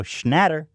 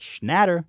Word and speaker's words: Schnatter: perfect pizza you go Schnatter I think Papa it's better mmm doesn't roll off the tongue the same Papa I like Nadder it's like Kobe two syllables both have two syllables don't leave what I